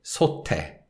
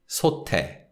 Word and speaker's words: 솥에: So because it's a particle, the sound of the teeth links with the following syllable. So we say 솥에, 솥에.